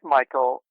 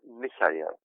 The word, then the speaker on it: Michael: It spells like Michael, but it's pronounced Michael. Michael? Yeah, very good. Yeah, Michael. It is this. I grew up in Germany, so it's the German way of saying Michael, but it's also just